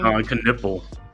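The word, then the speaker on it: Knueppel: How you pronounce his name? Con Knipple.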